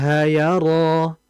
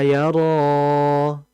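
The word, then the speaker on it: يرى: Kemudian dalam membaca yaro itu di situ mad asli ya. Di situ ada mad asli sehingga kita cukup membacanya dua harakat saja tidak boleh lebih ya. Jangan kita baca alam ya'lam biannallaha yaro. Tidak, itu terlalu panjang ya.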